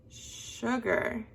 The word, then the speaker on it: sugar: You'll notice that the part that your voice went up is on the first syllable. Say sugar, sugar. Your voice goes up when you say sh, and it goes down when you say ger.